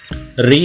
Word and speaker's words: ऋ: गोल आओ टांग और इसका उच्चारण है री होना चाहिए इसको कुछ लोग ऋ से रिशि ही बोलते हैं छोटे जो बच्चे होते